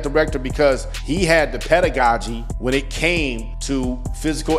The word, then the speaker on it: pedagogy: was searching for graduate programs it's called pedagogy p e d a g o g y pedagogy and that means basically the whole curriculum